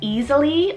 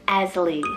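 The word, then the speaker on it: Ezili: It's actually a Benin goddess name, so I hope I'm pronouncing it right, but it's either Easily or Esli, spelled E-Z-I-L-I.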